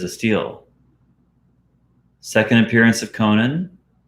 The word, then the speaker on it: Conan: steal second appearance of conan i always say it like Conan O'Brien Conan Conan I valued